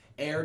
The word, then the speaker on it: ere: Ere just means before. So whenever you see E-R-E, that means before. Now, if you ever see E''E-R, that is a shortened version of ever. Ever is 2 syllables. If Shakespeare ever needs it to be 1 syllable, he'll say ere.